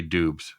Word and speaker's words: Doubs: Has in Colorado, they say Doobs. Everywhere else, they say Dobbs.